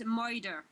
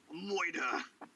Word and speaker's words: murder: pronunciation, the correct pronunciation is moider. Moida. Right, Baroni. Moider.